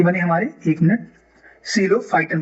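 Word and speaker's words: Psilophyton: बने हमारे, एक मिनट, सीलोफाइटन बने, राइट। यहाँ पी क्या है, साइलेंट है, ठीक है।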